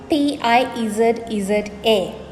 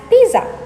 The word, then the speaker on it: pizza: Therefore, people tend to pronounce this as pizza because that is how it is written, isn't it? But there is a T that is not there in the word that you have to inject into the middle of the word when you're pronouncing it. You pronounce it correctly as pizza.